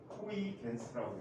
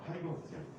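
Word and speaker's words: Huygens: 독일어에서는 이 스펠링을 후이겐스라고 읽어요.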